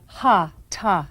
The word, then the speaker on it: hatha: you to hatha yoga class as you know hatha yoga is much more than an interesting collection of stretching and breathing techniques yoga was originally practiced in India hatha yoga or ha ha yoga as correctly pronounced these are Sanskrit words that literally mean